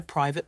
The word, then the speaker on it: private: say I'm at a private party and the funny thing the A and E in private are unstressed they're so subtle you barely notice them cool right it's little